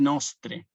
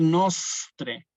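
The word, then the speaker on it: nostrae: Entonces, por ejemplo, aquí es nostre, simplemente nostre. No tenemos que decir nostre, y agregándole o dándole ese énfasis, por ejemplo, a la S, ¿sí?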